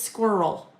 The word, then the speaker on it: squirrel: Very interestingly enough, uh when I Googled this, one of the most um commonly mispronounced word for people that um do not have English as their primary language is squirrel. Isn't that fun? Kind of goes well here with what we do. Squirrel. And again, it's the double L's, I think.